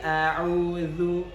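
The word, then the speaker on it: أعوذ: huruf Dal yang mana huruf Dal disini maksudnya adalah ujung lidah bersentuhan dengan di kita di atas jadi zat-zat dan agak sedikit keluar ya zat-zat jadi full a'udzu aja Jangan sampai kita membacanya menjadi zat-zat itu salah karena Za itu beda dengan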